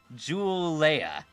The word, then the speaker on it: Julia: It's Joule, like the unit of energy, and Leia. Joule Leia.